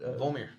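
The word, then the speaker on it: Vormir: So how do you pronounce it? Volmir.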